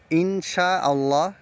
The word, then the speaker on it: ইনশাআল্লাহ: থাকে তাহলে কি হবে ইখফা গুন্না করতে হবে গুন্না হচ্ছে নুনটাকে লুকিয়ে পড়তে হবে তো ইনশা আল্লাহ এটাকে বিশুদ্ধ ভাবে গুণনা করে পড়লে হবে ইনশাআল্লাহ ইনশা এইভাবে ইনশা এভাবে